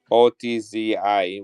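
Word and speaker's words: Ötzi: His name was Otzi. OTZI with two dots on the letter I, the letter O, Otzi.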